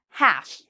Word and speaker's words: half: pronouncing L at all half so again half no l because we have the a here okay now these are